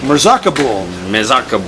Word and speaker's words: Mezarkabul: Mezarkabul.